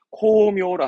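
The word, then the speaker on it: 功名: 발음 챙길 만한 부분이 NH스럽습니다만은 코묘라 함은 이름을 떨친다.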